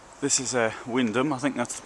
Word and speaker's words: Wymondham: This is Wymondham, I think that's the pronunciation.